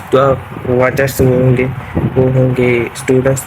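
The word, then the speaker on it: は: हो रहा है, इसलिए इस हिरागाने में वाह को वाह ही लिखा है, और इस पार्टिकल में हाँ को वाह प्रोनाउंस किया है।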